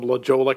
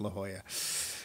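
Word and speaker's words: La Jolla: Brooklyn accent from someone from Lola California or is it La Hoya it is in fact La Hoya I don't know it's spelled Lola yeah don't don't bring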